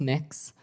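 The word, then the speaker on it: Mx.: It's pronounced mix. Um, mix.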